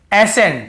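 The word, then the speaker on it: ascent: यहाँ पे S Saint या एस कैंट ऐसे नहीं पढ़ रहे हैं। वैसे तो सी के साथ ई हो तो स उच्चारण निकलता है, तो ऐसे सेंट नहीं पढ़ रहे हैं, हम केवल एसेंट पढ़ रहे हैं।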